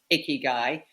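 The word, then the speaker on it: ikigai: book but you could just Google Icky guy and it's spelled ik k g AI um there's nothing icky or male about it it's just called guy um and um it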